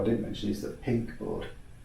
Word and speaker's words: PYNQ: And if you look at boards, actually one board I didn't mention is the Pink board. The Pink board? Spelled, but not pink. It's spelled PYNQ.